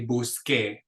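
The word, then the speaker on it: busqué: has its soft sound the only way to get a c with a hard sound is to add that silent u in front of it just like in the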